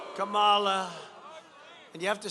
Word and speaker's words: Kamala: be safe the biden harris how about harris kamala kamala and you have to say her name writer